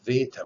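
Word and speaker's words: βήτα: bit and you make the sound of vita which sounds like an english v you should be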